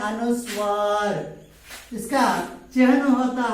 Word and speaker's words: अनुस्वार: अम का अर्थ होता है अनुस्वार. इसका चिन्ह होता है शिरोरेखा के ऊपर एक छोटी सी बिंदु दी जाती है. इसका उच्चारण उम्म के समान होता है.